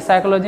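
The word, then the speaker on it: psychology: देखो जरिया नहीं है कि साइकोलॉजी का है गलती हो गया, तो नहीं सोचो काहे कि साइकोलॉजी में पी साइलेंट रहता है, नॉर्मल बुतरू साइकोलॉजी में अकबका जाएगा।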